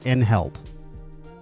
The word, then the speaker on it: Enheld: Oh, I think they said just to say Enheld.